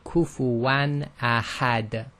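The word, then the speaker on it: كُفُوًا أَحَدٌ: So it's pronounced just normally, which we call clear. So this is simply kufuwan ahad.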